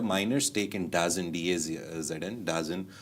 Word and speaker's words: DAZN: They got a minor stake in DAZN, D-A-Z-N, DAZN. The people have a lot of pronunciations for that, but I call it DAZN.